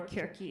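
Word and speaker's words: Circe: the resident witch scientist Cersei or kiry if you pronounce it the Greek way had a potions event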